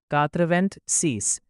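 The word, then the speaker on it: quatre-vingt-six: इसीलिए 86 का फ्रेंच में प्रोनाउंसिएशन होगा कात्रवेंट सीस।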